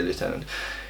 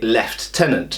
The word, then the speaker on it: lieutenant: the French say Lieutenant so the American say lieutenant in um Britain it's lost in The Mists of time as far as I can tell based on what I can find online and books I've read and so on and so forth um and we don't really know exactly why in Britain we say left tenant now I understand that